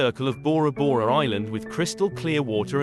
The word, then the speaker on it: Bora Bora: The name comes from the saying, Pora Pora Maita Pora, created by the gods, by the locals, sometimes pronounced as Bola Bola. In World War II, Bora Bora Island served as a military supply base, oil depot, airstrip, seaplane base, and defensive fortifications.